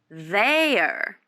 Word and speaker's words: there: attention to me please put your tongue between your teeth like this um there air there good yeah the second one